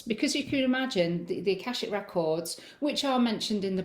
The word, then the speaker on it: Akashic Records: So obviously you spoke about like I'm going to try and pronounce this Akashic Records.